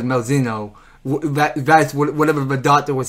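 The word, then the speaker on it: Malzeno: I was pronouncing Malzano. It was Malzino.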